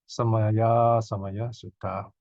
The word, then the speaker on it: Samayâsamaya: It's pronounced as Samayâsamaya Sutta.